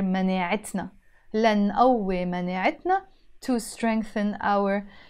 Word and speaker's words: مناعتنا: I would have to pronounce this t, t مربوطة. That's why we pronounce it here مناعتنا.